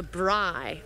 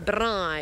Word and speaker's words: braai: They're called a braai. A braai. You've got to roll your R's.